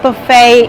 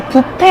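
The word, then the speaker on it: buffet: bcl is breakfast Buff included 하시면 됩니다 그 부페 발음 하실 때 부페 아니에요 bu 하셔야지만 알아듣습니다 여러분 어네 끝인데네 오늘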